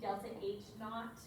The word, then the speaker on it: delta H naught: saw with delta h we see delta h naught is how you say it oh not it makes